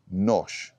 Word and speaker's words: nosh: the pronunciation of this it rhymes with Posh So Posh Nosh yeah so it just